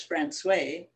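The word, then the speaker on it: François: only by water it's called francois although it's pronounced by the locals as francois it is surrounded by rocky hills as we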